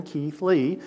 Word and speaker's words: Keithley: name is keithley say three first names and you have it right keith lee uh and and you've